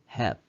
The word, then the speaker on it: have: 여기 "have" 라는 단어가 있는데 , 끝 에 있는 'e' 는 묵음 입니다 . 음성 기호로 표현 하면 "have" 이며 , 한 음절로 한 번 발음 합니다 .